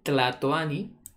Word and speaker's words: Tlatoani: El Tlatoani, ven como le digo la T y la L siempre presente ahí.